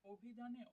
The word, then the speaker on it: অভিধান: উচ্চারণ হচ্ছে অভিধান কারণ অভিধানে অ উচ্চারিত না হয়ে আমরা এটাকে ও উচ্চারিত অভিধান এরকম উচ্চারিত হয়ে